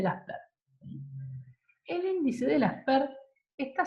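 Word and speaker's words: Laspeyres: Uno de ellos es el índice de, que se llama acá Las Peires y se pronuncia Lasper. El índice de Lasper.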